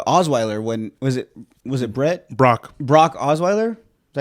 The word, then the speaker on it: Osweiler: Brock Osweiler?